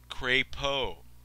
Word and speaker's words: Crapo: The 61-year-old Crapo, here it says how to pronounce his name, Crapo.